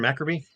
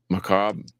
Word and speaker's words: Macabre: Dennis the Menace from Maccabi. Macabre. Tomas. I said Maccabi. I'm an idiot. I knew the name of the band too, but I said it wrong.